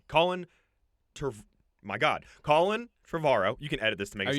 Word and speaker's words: Trevorrow: Okay, so Colin Trevorrow. Oh, I said his name wrong. Colin Trevorrow.